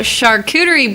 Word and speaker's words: charcuterie: So charcuterie boards, if you can say the word or even spell it, is a challenge. But Char or char? Char. Char. Charcuterie.